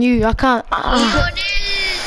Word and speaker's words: Lionel: Lionel, that's how they pronounce it. Everywhere. Spain, Colombia, Argentina, wherever.